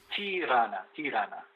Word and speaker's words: Tirana: Tirana. I was not sure how to pronounce it.